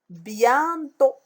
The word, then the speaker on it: bientôt: Bientôt. Bientôt. Où est la lettre muette ici? C'est T.